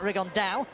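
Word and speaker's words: Rigondeaux: rig on though or as he's correctly pronounced with the uh the Spanish accent rig on down and look two absolute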